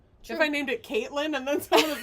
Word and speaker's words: Kaitlen: Keitoran. Really? That's me. Oh! Caitlin. How do you say it? I was just trying to say in Japanese like Keitoran. Keitora. No, not like that. It's just Caitlin.